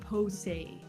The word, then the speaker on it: Poussey: Like, it's spelled like Poussey, like Posey.